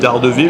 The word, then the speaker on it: Daredevil: Moi, je me souviens du personnage de Daredevil, enfin à l'anglaise, on prononce ça Daredevil.